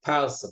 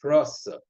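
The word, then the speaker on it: פרסא: Like when we always say parsa, but the proper pronunciation is prosa.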